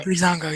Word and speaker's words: Breezango: Is that how you pronounce it? Yeah, Breezango, yeah. I don't know what to think about this.